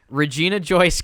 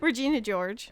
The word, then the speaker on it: Regina George: gut my favorite part of the movie when regina joyce gets take whatever regina george whatever however how do you say it regina george okay i was close enough um she gets